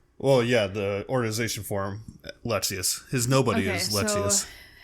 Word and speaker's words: Lexaeus: Okay, how do you pronounce this? This one? Lexaeus? Well, yeah, the organization form, Lexaeus.